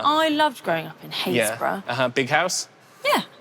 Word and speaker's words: Happisburgh: Haysborough. What? Yes, Haysborough. And it's spelled H-A-P-P-I-S-B-U-R-G. There is a lot of places in England that are completely not spelt how they sound.